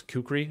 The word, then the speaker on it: kukri: this kukri which is a or i guess kukri is the proper pronunciation it's not too often used weapon however